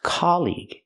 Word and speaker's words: colleague: and this word colleague it's not colleague it's colleague it's the open a sound like hot and stop C colleague colleague they're